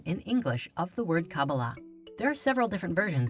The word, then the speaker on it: Qabalah: in the Hebrew alphabet these four letters together are pronounced Kabbalah however the most common